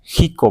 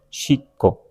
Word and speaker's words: Xico: ¿Por qué decimos con J la X? Pero en náhuatl le damos un valor de sh, entonces leeríamos chico. Pero si decimos chico, no tiene sentido.